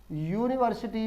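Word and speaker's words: university: इसीलिए उच्चारण क्या कह रहा है, कॉन्सोनेंट का यूनिवर्सिटी।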